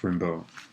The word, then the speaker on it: Rimbaud: Rimbaud. It's pronounced Rimbaud.